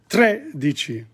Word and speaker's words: tredici: But D-R-E, tre. It's one sound. Tredici.